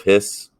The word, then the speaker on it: His: called the bundle of hiss i know it's it's spelled his but it is pronounced hiss it's the bundle of